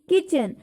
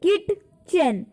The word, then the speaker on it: kitchen: किचन की spelling हम कैसे करते हैं? किटचेन. Okay, किटचेन. बट क्या होता है? जो टी होता है ये इसमें साइलेंट होता है. That is वाई we pronunciate it एज किचन.